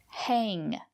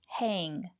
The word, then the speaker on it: hang: Hang. Use the long A. Hang.